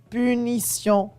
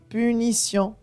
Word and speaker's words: punition: suivie d'une voyelle et punition t i o n t suivi de i o n ça donne le sens ce punition punition je dis le mot